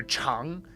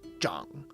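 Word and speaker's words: 长: So another one that we've talked about before is how the character chang can also be pronounced zhang to mean to grow. When it's chang, it means long. When it's zhang, it means to grow.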